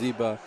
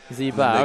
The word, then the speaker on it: Zeba: I spell it out I usually say you know like zebra but it's Zeba Zeba okay we're just missing